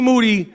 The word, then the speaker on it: Moody: Moody, last name rhymes with duty, gotten a physical.